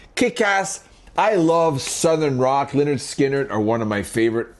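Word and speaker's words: Lynyrd Skynyrd: It is pronounced Leonard Skinnard.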